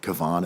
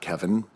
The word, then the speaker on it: Kevon: When people are calling Kevon Looney Kevon and not Kevin, It sounds like cookies, right?